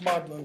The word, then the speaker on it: Magdalene: Donne was close friends, just friends, not friends with benefits or anything like that, with Herbert's mother, whose name was Magdalene Herbert, like Mary Magdalene, pronounced Magdalene though, wrote a couple of poems for her and wrote a fairly long poem on her death.